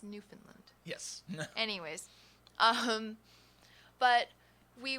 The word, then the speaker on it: Newfoundland: it's a tough one they specifically tell you how to say it in the book not Newfoundland it's not new Finland its Newfoundland yes anyways um but